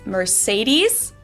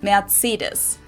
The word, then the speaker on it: Mercedes: Most Americans call this Mercedes. In German we pronounce it Mercedes. So Oh, Mercedes. It almost sounds a little French.